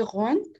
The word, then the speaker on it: rond: La última letra no suena. Entonces, en el masculino se quedaría como con la N, sería el último sonido.